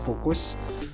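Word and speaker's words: Fucus: yang pertama sargasum kemudian fokus ini kurang F bacanya fokus kemudian yang ketiga adalah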